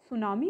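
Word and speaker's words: tsunami: चच is called सुनामी टी is silent here T एस यू एन ए सुनामी इ the word सुनामी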